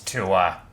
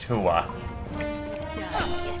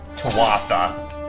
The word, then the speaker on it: Tuatha: It's Tua. I am not just saying that to be a pedantic asshole. That is literally how it's pronounced. It's pronounced Tua. How they pronounce it here? Tuatha. They pronounce it like it's spelled. Yeah, that's a thing with Celtic languages. Words are not pronounced the way they're spelled.